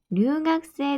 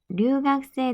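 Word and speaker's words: 留学生: 자, 원래대로 하면 응가쿠세이인데 자, 가쿠세이에서 이 쿠는 약간 묵음 처리가 돼요. 약간 받침화가 되고 이 이는 장음 처리. 응각세라고 발음하시면 돼요. 야마시타 さんは留学生ですか?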